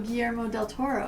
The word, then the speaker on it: Guillermo del Toro: Oh, Guillermo del Toro. Perfect pronunciation.